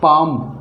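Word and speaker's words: palm: एम के FD से पहले अगर एल आता है तो एल साइलेंट रहेगा। यानी MKFD, ये 4 लेटर हैं, इनसे अगर पहले एल आता है तो एल हमेशा साइलेंट रहेगा।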